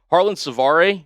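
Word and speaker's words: Harland Svare: Harlon Savar, yes, that is how you pronounce it.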